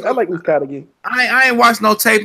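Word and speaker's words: Uzcátegui: Caleb Plant finally responded to Jose Utagi. I call him Utagi. I don't give a fuck about pronouncing. Ukadagi. It's Uzkadagi.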